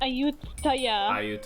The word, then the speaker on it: Ayutthaya: pronounce Ayutthaya? Ayutthaya.